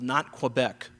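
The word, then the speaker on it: Nantes: a small town called not quebec uh was retired not quebec n a it's quebec it's french they don't pronounce every letter uh n-a-n-t-e-s you'd be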